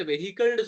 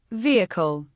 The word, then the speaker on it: vehicle: வாகனத்துக்கு நீங்க வெஹிக்கல்னு சொன்னீங்கடா, எல்லாரும் பிழை. அப்ப இத்தனை வருஷமா நீங்க ஏமாந்து இருக்கிறீங்க, இத்தனை வருஷமா நீங்க ஏமாந்து இருக்கிறீங்க. அது வெஹிக்கல், அது வெஹிக்கல் இல்ல. vehicle, vehicle, vehicle, vehicle, என்ன சவுண்ட் வந்துச்சு?